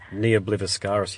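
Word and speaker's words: Ne Obliviscaris: They're from Melbourne, but I can't pronounce their name. It's Neobl. Yeah. What is it? Neobliviscaris.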